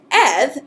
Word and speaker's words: eth: So when you pronounce Eth, which is a voiced dental fricative, you actually press your tongue against that ridge, and you make kind of a humming sound. You actually produce a sound with your vocal cords, and it sounds like th.